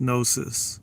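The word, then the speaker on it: gnosis: you were talking about yes yes silent G pronounced nosis yeah nosis genosis yeah Greek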